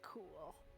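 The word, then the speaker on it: Qul: Spelled Q-U-L, but it's pronounced Cool.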